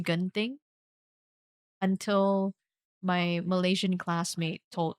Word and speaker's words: Genting: We pronounce it as genting. And for all my life, I did not know that it's supposed to be pronounced ging until my Malaysian classmate told me like in uni.